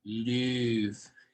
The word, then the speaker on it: Louvre: It's actually pronounced Louvre.